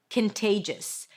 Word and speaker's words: contagious: Here you pronounce it with a k sound at the beginning. A schwah and an n. Can there is no o. Then t. That's the primary stress. Conte. And then just a j sound. Awah and an s. Contagious.